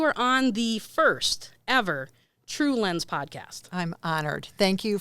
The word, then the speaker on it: TrueLens: TrueLens, 2 syllables.